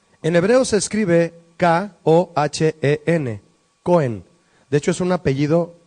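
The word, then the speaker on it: kohen: En hebreo se escribe K-O-H-E-N, Cohen.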